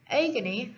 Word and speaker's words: agony: has a long eye itself on the contrary agony has a weak syllable next i want to show you some